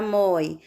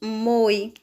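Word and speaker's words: mói: Na palavra moi, nós temos o ditongo aberto oi, por essa razão nós devemos colocar o acento. Se não existisse esse acento, nós pronunciaríamos moi, com o som fechado, com o O fechado, O. Na palavra dói, nós também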